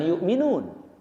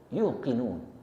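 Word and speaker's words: يوقنون: Wabil akhirati hum yuqinun. Bukan yukminun, tapi yukinun. Yakin.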